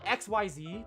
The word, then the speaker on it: Xyz: It's spelled XYZ, but it's supposed to be a word, so it's pronounced Xyz.